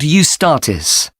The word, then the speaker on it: Eustatis: there's a performance by a ballet company called eustatis sorry the name is spelled e u s t a t i